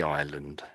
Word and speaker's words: island: No, this this is anybody who lives on any island.